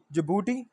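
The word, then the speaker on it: Djibouti: Ports on Maldives, जिबूटी, ये DJBOUTI है, ये जिबूटी सिर्फ जे से स्टार्ट नहीं है, डी स्टार्ट पहले में लगेगा।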